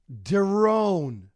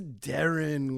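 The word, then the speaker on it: Deron Williams: an avid 2K player would always call him derone while giving him accolades he'd be like oh yeah I love derone Williams and I'd be like whoa his name is Darren Williams and do you want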